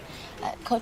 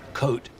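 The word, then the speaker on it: Côtes: Cote Sterone. It's your favorite, right? Coat. The S is silent.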